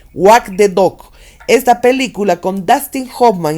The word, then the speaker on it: Wag the Dog: no es muy buena, entonces voy a deletrear W-A-G de dog, el perro, la segunda parte, de dog, T-H-E, dog, D-O-G. Wag the Dog.